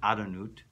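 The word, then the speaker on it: Adonai: And you're going to say, of course, you're going to pronounce it Adonut. That's the way you pronounce it.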